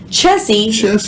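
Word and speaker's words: Chessie: in 20 maryland chessy chessy to rhyme with nessie the chesapeake bay's own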